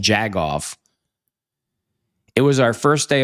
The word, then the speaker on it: jagoff: He used jackoff jagoff, excuse me.